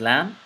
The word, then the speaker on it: ل: It is pronounced from the tongue. And I'm not going to place much emphasis because this letter is actually identical, not similar, but pretty much identical to the letter L in the English language.